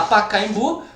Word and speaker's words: Pacaembu: Então vamos lá, Pacaembu, qual é a sílaba que se sobressai? Evidentemente a última, o bu, não é?